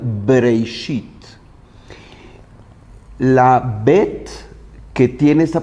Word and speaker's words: Bereshit: Y la pronunciación de Breishit es justo la pronunciación labial, Breishit.